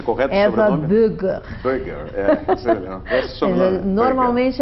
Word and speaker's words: Boeger: Qual é a pronúncia correta do Eva sobrenome? Böger.